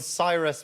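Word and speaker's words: Psyrus: We were called Cyrus with a silent P.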